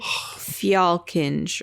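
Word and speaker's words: Fjällkinge: I want to say it's like Fjallkinge or something like that. Like I think that FJ is like a Fja.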